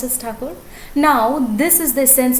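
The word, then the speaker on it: Tagore: country awake these lines were written by rabindranath taco taken a bit of wag hearing the war the god pronounced as tucker now this is the sense of freedom that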